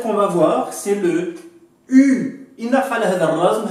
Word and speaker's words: u: Si vous voulez bien prononcer le U, vous devez mettre en avant les lèvres.